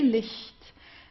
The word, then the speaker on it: Licht: Okay, Licht, Licht. So it's not not the strong H or so, it's Licht. It's very soft, Licht.